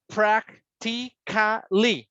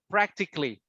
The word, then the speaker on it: practically: So then the rule says, if you have a stress sound, you can eliminate the next one. So you don't say ka, li. So you say practically. Practically.